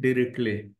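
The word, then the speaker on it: Dirichlet: लोग दो फंक्शन देखिएगा एक तो डी आई आर आई सी एल ई टी हम लोग इसको पढ़ते हैं डायरेक्टली टी साइलेंट होगा और दूसरा पढ़ते हैं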